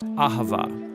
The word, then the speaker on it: אהבה: languages as it is in ancient Hebrew it's pronounced Ahava it both basically refers to the kind of